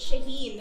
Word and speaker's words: Shahin: niya Ay shahin shahin ano po ang pronunciation po niya is shahin o so trivia lang